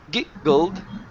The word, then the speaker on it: giggled: Let's connect these sounds instead of giggled. Okay. Make connect it all. Giggled. So, you should feel a vibration the whole time. It should not stop.